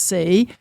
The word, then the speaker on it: Seay: name is spelled SE a y and it's pronounced C Dr C is a consultant and research associate